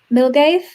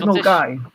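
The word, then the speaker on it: Milngavie: which is the Source, which most Americans can't pronounce. Which Source? Near Birmingham. But this one, Milgave?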